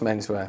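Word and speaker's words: Menswe@r: I never quite knew how to pronounce it. Have I done it? It's just Menswear.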